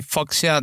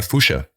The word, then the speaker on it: Fuchsia: I think I always pronounce it wrong. I say Foxia Dunlop, this British. Yeah, Fuchsia Dunlop.